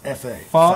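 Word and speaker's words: pho: f p h o is spelled or is pronounced fa f is Asian for soup no no I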